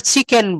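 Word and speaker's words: chicken: তখন কিন্তু ওয়েটার অবাক হয়ে যাচ্ছে, সে বলছে what is kitchen biryani, not kitchen, it's called চিকেন biryani, চিকেন biryani.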